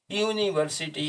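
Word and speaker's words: university: आगे केवल ए लगेगा, क्योंकि हिंदी में इसका उच्चारण यूनिवर्सिटी है, ये यू से शुरू होता है, और ये यद्यपि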